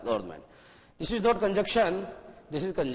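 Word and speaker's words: government: हालांकि अलग बात है कि जब आप उसका प्रोनाउंसिएशन करते हैं तो एन को साइलेंट रखने की आवश्यकता है, क्योंकि एन और एम दो कॉन्सोनेंट हैं और दोनों एक साथ आ रहे हैं, इसलिए एन को मत बोलो, गवर्नमेंट बोलना पड़ेगा।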